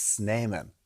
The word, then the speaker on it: Snyman: He's telling it's Snyman.